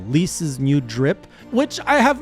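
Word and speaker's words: Lyse: I've gotten Li's or or sorry, it's one syllable. Lease's new drip, which I have mixed feeling on.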